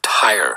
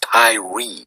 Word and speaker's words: Tyre: is King Hiram of tire tire that is t-y-r-e pronounced by Americans Tyree as in Tyree Nichols who was beaten